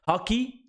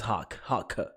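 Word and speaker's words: Hawke: Hockey? Nah, it's Hawk.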